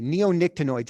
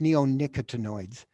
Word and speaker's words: neonicotinoids: Okay, neonictinoids. I had to post this slide up here so you guys can see a couple of different things. Mary Alice talked about, it's pronounced neonicotinoids.